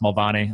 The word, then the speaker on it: Mulvaney: So Scott William Mulvaney over there, it's pronounced Mulvaney.